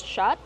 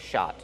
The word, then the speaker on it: shot: Shot, use the open ah sound like hot and stop.